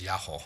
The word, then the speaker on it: Yoho: the bottles as well yaho Bing this is um Yoho in it's written yo in English but in Japanese it's yaho I don't know why